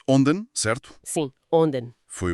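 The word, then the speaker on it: 隠田: Pronuncia-se Onden, certo?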